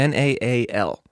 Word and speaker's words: Naal: Is that how you pronounce Naal. It? N-A-L. Yeah. N-A-A-L.